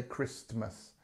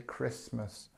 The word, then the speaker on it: Christmas: about Christmas Christmas now notice although we have this T here when we say it in regular speech we don't say Christmas we say Christmas and you see here